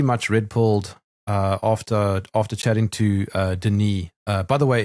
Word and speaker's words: Denis: I mean, I was pretty much red-pilled after chatting to Denis. By the way, it's Denis with a silent S because he's Canadian and French.